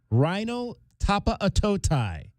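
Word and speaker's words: Rhino Tapa-Aotai: of rhino tapa aotai rhino tapa aotai is how it is uh fically pronounced on the pronunciation guy that we got today in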